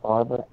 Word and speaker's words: Favre: Like Brett Favre should be Favre. Oh, right. Those kind of things, like Brett Favre, not Favre. Because the letters backwards, they're letters backwards.